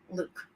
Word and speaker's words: Luq: And his name is spelled Luq. Luke.